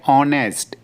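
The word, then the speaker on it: honest: ऑनेस्ट, इसमें H silent होता तो हम पढ़ेंगे ऑनेस्ट, ईमानदार।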